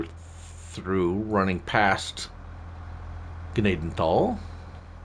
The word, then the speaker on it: Gnadenthal: say through running past Gaden tall Gaden tall the H is silent it's not a it's